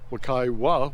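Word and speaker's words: Wekiwa: from the ranger uh I was interested in the pronunciation we k i wa WWA or Waka and he actually said in the old Simo language WWA with a W at the end uh means to bubbling water so that refers to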